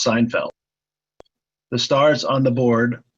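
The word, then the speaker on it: SNFLD: spelling of the s n-f-l D arrival is pronounced Seinfeld the stars on the board are locations of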